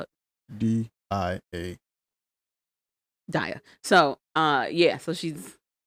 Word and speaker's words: Dia: Dia. How you spell it? D-I-A.